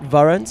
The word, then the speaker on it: Varant: Is that how you say it? Varant. I'm so glad I've been saying warrant for about 3 years.